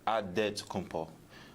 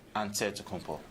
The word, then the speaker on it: Antetokounmpo: Nigerian way, you gotta say with a D. So it's Adetokunbo. But in the Greek way, you say with the NT, like Antetokounmpo.